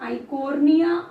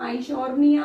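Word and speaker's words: Eichhornia: दूसरा इसका वैज्ञानिक नाम आप पढ़ते हैं, वैज्ञानिक नाम आप पढ़ते हैं आइकोर्निया, आइशोर्निया भी लिखा हुआ है बुक्स में, प्रोनाउंसिएशन वेरी है, वो आपके ऊपर डिपेंड करता है।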